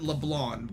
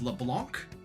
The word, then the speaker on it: Leblanc: So I've always pronounced it as Leblanc, which I mean I know technically is incorrect, but the C is there. And to my English speakaking brain, there's no reason why you wouldn't pronounce the C.